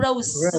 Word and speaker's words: rose: Bông hoa hồng thì chúng ta không đọc là râu không, cũng không rose, không phải xì ạ, mà Z này, rose.